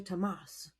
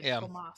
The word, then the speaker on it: Thomas: It's in the audio book they say Tomas. I don't know why. Yeah, because he's French. So, it should be Tomas. It should be. So, I guess I'll say Tomas, but it's spel it's spelled the same as Thomas, and I wasn't expecting that.